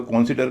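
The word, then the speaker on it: consider: इसको कंसीडर कहेंगे। कंसीडर कहेंगे कंसीडर कहेंगे। क्यों? क्योंकि वर्ब है और वर्ब में दूसरे पर टेस्ट होगा। पहले पर नहीं होगा।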